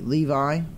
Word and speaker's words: Levi: Levi.